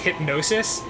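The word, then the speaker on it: Hipgnosis: was a company called hip I'm sure it's pronounced hypnosis but it's spelled hypnosis oh come on look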